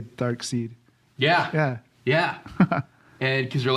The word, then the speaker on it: Darkseid: And because they're like, "Oh, that's too cliche if it would be side," but actually that's the whole point, is it's an alternate spelling, so you get the name Darkseid without it having be S-I-D-E, which would sound a little too on the nose.